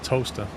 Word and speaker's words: Towcester: and it's pronounced toaster.